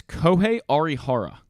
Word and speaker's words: Kohei Arihara: He has a really tough name to pronounce. It's Kohei Arihara. Kohei Arihara. I believe that's how you say it.